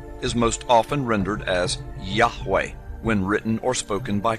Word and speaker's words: Yahweh: Today, Yud He Wah He is most often rendered as Yahweh when written or spoken by Christians and others. It is still never pronounced aloud by Orthodox Jews.